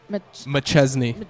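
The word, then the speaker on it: Machesney: area this weekend in my chest knee Park Illinois I have no idea where that is is it pronounced it right go on Oh Mac macchesney Chesney thank you at a place called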